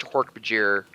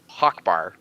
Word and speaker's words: Hork-Bajir: I think I've said this before that I pronounced Hork-Bajir Hawkbar originally. That was what me and my dad would say it was because we didn't know how to pronounce it.